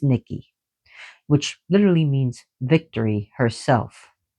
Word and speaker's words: Nike: So another goddess of victory among the Greeks is Niki Nikki which is people pronounce wrongfully because of the shoes Nike and I ke but it's Nikki which literally means victory herself who is also a goddess of war and victory.